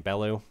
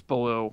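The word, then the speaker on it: Belew: And Cody, I don't know how to pronounce his last name, Bellew? I think it's Baloo, like the bear. Baloo.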